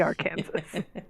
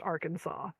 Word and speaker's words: Arkansas: It should be our Kansas. I know that it shouldn't be like I know that there's a reason it's pronounced Arkansas. I don't ever remember.